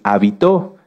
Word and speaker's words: habitó: muchas definiciones de hecho si cambiamos el acento de la palabra hábito lleva acento en la a se refiere a esto a nuestras costumbres y si lo cambiamos hacia el final es habitó que viene de habitar fíjense que como en